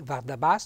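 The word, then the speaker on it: vardbas: anche con du S un bel accento tonico sulla a Finale vardas cioè che uno che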